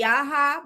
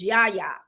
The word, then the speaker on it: Yaya: And then I was calling somebody Yaha, but it's Yaya.